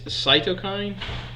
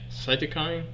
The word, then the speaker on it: cytokine: it Rachel yes how do you say this cytokine cytokine anyway it triggers something known as a cytokine